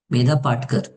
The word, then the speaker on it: Medha Patkar: Medha Patkar. That is how we pronounce her name.